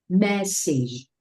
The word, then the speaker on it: message: Here we don't pronounce this word like message. No, we see e message, message. message Very good, message.